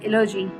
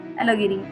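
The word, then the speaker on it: allegory: So last topic is and last form is एलोजी, एलोगिरी। ठीक है, एलोगिरी, sorry ये प्रोनाउंस थोड़ा गलत हो गया था, एलोगिरी।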